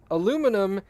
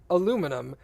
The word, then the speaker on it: aluminium: David David typed out according to Wiktionary aluminum is the alternative form of the correct pronunciation aluminium and the correct pronunciation